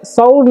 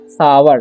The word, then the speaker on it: sour: ठीक है, तो इसे सौर नहीं पढ़ना है, इसे पढ़ना है सावर। ठीक है, क्या पढ़ेंगे हम लोग? सावर। ठीक है, ओ यू का उच्चारण आव होता है।